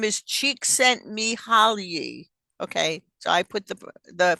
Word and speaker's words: Csikszentmihalyi: His name is Csikszentmihalyi. Okay, so I put the phonetic pronunciation there for all of us, not just for me.